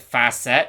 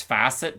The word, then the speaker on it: facet: I don't know why I pronounced it fast set it's facet I'm sorry okay I'm